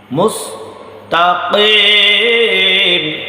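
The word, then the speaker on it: المستقيم: মুস্তাকিম ইহদিনাস সিরাতাল মুস্তাকিম মুস্তাকিম কিম কফ কিম, এটা হচ্ছে কাফ, এটা হচ্ছে কফ কফ কফ।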